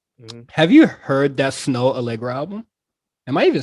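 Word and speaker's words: Snoh Aalegra: Have you heard that Snow Allegra album?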